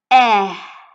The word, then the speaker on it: Ä: in this image, and with this half open mouth we will pronounce the ah umlaut, or as we pronounce it in German language, eh.